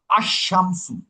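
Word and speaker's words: الشَّمْسُ: আমার কমারি হরফে শামসির আগে যদি আল থাকে তাইলে কিন্তু ওই আলের লাম উচ্চারণ হবে না। হুম, যেমন আশ-শামসু, আলের উচ্চারণ হবে না।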